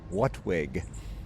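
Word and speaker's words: WHATWG: application technologies working group which formed an acronym WHWG pronounced whatwig.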